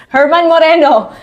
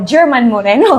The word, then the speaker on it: German Moreno: were we were laughing about it because I mispronounce the name of of Kuya Germs Kuya Germs Herman Moreno Which I said na sa sobrang kabako e ang nasabi ko German Moreno German Moreno siguro yun yung isa sa mga